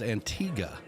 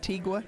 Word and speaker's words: Antigua: Now, the proper way to say it is Antigua. It's Antigua, not Tigua.